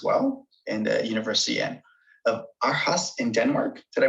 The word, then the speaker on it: Aarhus: From Charles University in Czech Republic, and a degree in environmental studies as well, and the University of Aarhus in Denmark. Did I pronounce that correctly?